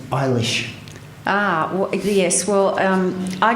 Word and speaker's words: Eilis: to talk about the novel he he said eilish ah yes well um I Googled it to